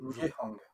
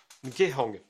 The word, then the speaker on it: Nhang: Alors après c'est après une lecture et pas un test, hein, je précise, que l'utilisation du diagramme Nhang, je le prononce bien, je... Ngehang. comment? Ngehang. Ngehang, ok.